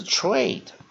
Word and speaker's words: trade: slave，那 a 变长母音念 a slave，那 e 变发音 slave。好，第二个单词 trade 也同样道理，它也是单音节的单字，所以一样，它的 onset 是 tr，所以我们念 tro，一样它的 nucleus